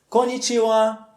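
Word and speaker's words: こんにちは: fim temos a sílaba o a portanto a pronúncia da expressão completa é Comitiva connite Ou boa tarde Konichiwa Só que tem um detalhe aqui muito importante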